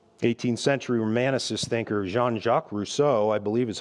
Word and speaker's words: Rousseau: when you die 18th century romanticists thinker Jean-Jacques Rousseau I believe is how you pronounce his name of course he said this